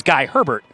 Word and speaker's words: Hebert: His actual pronunciation of his name was Guy Herbert. But he thought that didn't nearly sound hockey enough, so he went by Guy Hebert for his entire career.